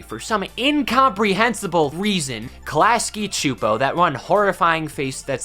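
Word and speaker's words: Csupo: For some incomprehensible reason, Klasky Choopo, that one horrifying face that's spelled completely different from this Choopo, but pronounces the same because the English language is inherently flawed, they took the time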